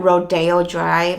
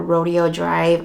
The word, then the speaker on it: Rodeo Drive: Alright, and now I'm going to talk about my Ofra highlighter in Rodeo Drive or Rodeo Drive. I know people pronounce it a little bit differently.